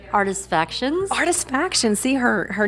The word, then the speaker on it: Artifactions: So we're here with my all-time favorite photographer, Tracy Saunders of Artifacts. Am I saying it right? Artifactions.